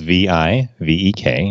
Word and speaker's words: Vivek: way it's printed spelled VI ve k and the VI is pronounced like the VI and Victor and the ve K is pronounced fake so rounds it rhymes with Lake so that's what I